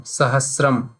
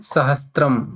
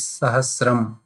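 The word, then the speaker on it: सहस्रम्: Many people read it sahastram, but it is sahasram. If you see in the English one, sahasram, you can figure out what is the pronunciation. So because this in Apabhramsha, it is many people say Sahastram.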